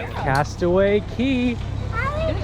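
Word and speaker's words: Castaway Cay: Disney here we are Castaway Key passed away K Castaway spelled k but it's pronounced key it was a really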